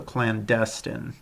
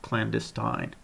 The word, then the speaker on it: clandestine: so this the um the stress in this one is on the second syllable so clandestine instead of clandestine um in a clandestine